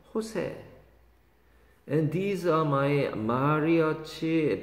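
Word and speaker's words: José: 이거 조세가 아니고 호세라고 발음합니다. J자가 라틴어 계통에서는 히읗자로 발음나요? 호세.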